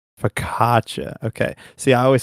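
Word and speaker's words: focaccia: So, that really nice fluffy Italian bread that starts with an F, how do you pronounce that? Danger. Fkaca. Fakatcha. Okay. See, I always say fossa.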